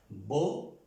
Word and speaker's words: beaucoup: Entonces esta EAU, estas 3 letras, O. Bueno, aquí está OU, ayer lo enseñé, que ahora en las reglas la OU suena U, como en el español. Entonces esta palabra se pronuncia beaucoup, beaucoup, beaucoup.